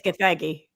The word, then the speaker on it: Gathegi: No, it is Gathegi.